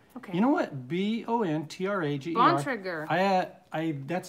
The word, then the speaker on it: Bontrager: This is from Frida Boniger. Okay. You know what? Bontrager.